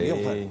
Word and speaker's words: Müller: ¿Se pronuncia así en alemán o no? Sí. Müller.